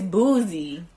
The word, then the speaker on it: Boosie: It's Boosie. Boozy. There's no Z in there. Everybody knows it's Boozy.